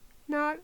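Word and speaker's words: gnawed: You don't pronounce the G. Nod.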